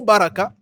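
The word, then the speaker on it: بركة: c'est ça en fait il faut faire attention beaucoup de gens ne savent pas prononcer ça ils écoutent tu écoutes Barak ma sœur c'est grave faut corriger les gens qui font ça c'est grave on ne dit pas on ne dit pas bar on dit bar faut tirer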